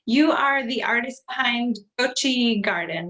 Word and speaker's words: Goxi: you do so you are the artist behind gucci garden right is that how you pronounce it i don't ever think i've heard it yeah goshi's garden garden yes and she creates the most